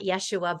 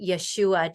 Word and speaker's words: Yeshua: serpentine seraphim of Yeshua which I pronounce it not Yeshua but Yeshua just because I've heard that through a couple of different different Magdalene lineages and that's what fit for me that that those that emphasis on those syllables um